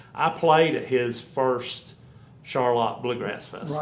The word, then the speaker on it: Charlotte: there now it's Charlotte they spell it like Charlotte but they say Charlotte which has been going